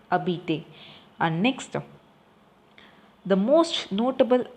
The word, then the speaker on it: habiter: So you should not pronounce the H, that is a mute vowel. So you have to pronounce habiter.